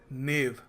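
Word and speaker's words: knave: इसको प्रोनाउंस करते हैं नेव, के साइलेंट है, आपको बताना है इसका मतलब क्या है।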